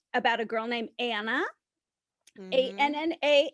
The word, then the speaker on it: Anna: A-N-N-A, Anna. Which rhymes with Hannah.